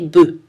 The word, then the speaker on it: bœufs: Attention à la prononciation des mots œuf et bœuf qui changent au pluriel. Un œuf, un bœuf, on prononce le F, mais au pluriel, on ne le prononce plus.